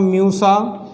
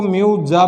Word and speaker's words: Musa: केले का वैज्ञानिक नाम म्यूसा, म्यूसा, म्यूसा है, इसको म्यूजा भी बोल सकते हैं।